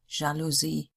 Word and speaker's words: Jalousie: French words in German starting with J are pronounced like the French word journalist, journalistin, jalousie.